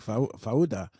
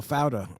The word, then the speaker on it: Fauda: that's only it's only if you watch movies like Fauda or Fauda, depending on how you say it.